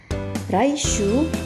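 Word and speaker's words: 来週: Jepangnya adalah mata raishuu pengucapan uh dibaca panjang raishuu artinya minggu depan Ayo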